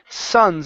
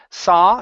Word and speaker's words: Sons: good uh right here this word is pronounced Sons instead of sa Sons it's it's the sons the Sons of Liberty the Sons of Liberty